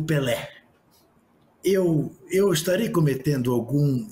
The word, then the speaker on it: Pelé: falo que sou brasileiro peli como eles pronunciam Pelé né Eh Só que